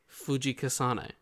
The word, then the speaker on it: Fujikasane: So to become a Demon Slayer, Tanji will have to be trained up and survive the final selection at Mount Fujikasane.